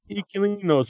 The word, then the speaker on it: Inquilinos: Inquilinos. Is that still the title in Mexico? They just changed the name for English. Yeah, no. The title in Mexico is Inquilinos.